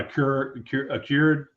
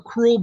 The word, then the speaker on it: accrual: bookkeeping, you're talking about a cured, is that how you pronounce it? System or cash basis. That's the two different main ones. Is that right? Yeah, cash basis or accrual basis.